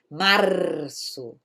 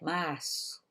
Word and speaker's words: março: Eu não faço na língua como espanhol, que é março. Não, não. Aqui é março, março. Quase eu perco o som, o ar na garganta aqui, tá?